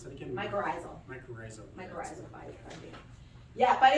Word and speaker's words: mycorrhizal: How do you pronounce that again? Mycorrhizal.